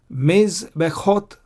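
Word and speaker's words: מזבחות: See, I don't pronounce the shwa here. Mizbechot, I pronounce this shwa, the blue one. I don't pronounce the red one.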